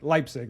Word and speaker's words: Leipzig: German but I remember if it goes e i you say the I so I Leipzig that makes sense you've learned